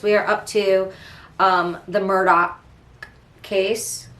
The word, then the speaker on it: Murdaugh: If you want to look it up, it's Merdaugh, and it's Alex, Alex, but down in South Kakalak, especially in the Low Country, we say Alec Murdaugh.